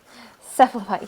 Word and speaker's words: Cephalopod: Am I even saying that right? I always get this wrong. Cephalopod. Yes, I am saying it right.